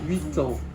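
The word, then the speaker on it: huit ans: Comme 8, ça s'écrit avec un T à la fin, vous faites la liaison. 8 ans.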